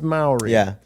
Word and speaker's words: Mowry: you were playing Teddy I heard your name pronounced a couple of different ways one was Mory and one was Mai so it's it's Mor but I've all these